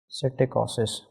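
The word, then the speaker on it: psittacosis: P is silent over here that is citicosis.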